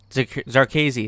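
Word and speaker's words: Zherkezhi: The only thing we really found out is that the guy's name that I always forget how to pronounce, Zarkazi, that's what it is, Zarkazi.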